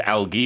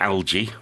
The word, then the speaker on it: algae: layer of moss and algae or algae it's both pronunciations are okay and poor 53-year-old Leslie